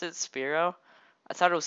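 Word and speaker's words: Spearow: spell Spear and then oh okay oh it's speo that's how you pronounce it speo I thought it was Sparrow cuz I was going to say you should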